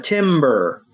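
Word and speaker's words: Timburr: m b r r Tim basically Tim is cold yes basic basically think of think of a tree falling Timber there you go oh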